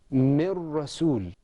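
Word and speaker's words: من رسول: This is pronounced with idgham. Mir rasul.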